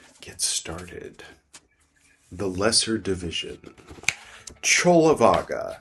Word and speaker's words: Cullavagga: Cullavagga, spelled like Kulavagga.